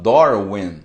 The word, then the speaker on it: Darwin: O Dar, eles falam Dor, e o Vin, que a gente fala Darwin, eles falam Win, porque em inglês o W tem som de U, né?